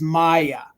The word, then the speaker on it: Maya: And I'm almost, if my memory serves me correctly, I remember Tracy, and she's the one that taught me how to say the name. It is Maya.